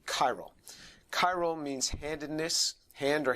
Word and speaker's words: chiral: said to be chiral it's a ch but it's pronounced like a hard c chiral chiral means handedness hand